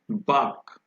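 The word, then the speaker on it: bark: आप यहां देखिए यहां भी आर साइलेंट है, हम बार्क नहीं बोल रहे हैं, हम क्या बोल रहे हैं, बाक।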